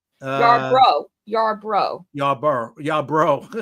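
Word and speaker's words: Yarbrough: Uh, Yar Bro.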